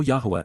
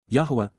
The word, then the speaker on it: Yahowah: To know Yahwa is to respect him. To understand Yahwa is to rever him. Yahwa. Yahwa. The proper pronunciation of the name of Eloha.